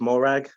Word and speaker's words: Morag: I suddenly started saying my name's not old it's Morag and that became my